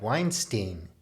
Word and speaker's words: Weinstein: is wrong with brett weinstein i always used to call him stein because it rhymes with einstein i think he's pretty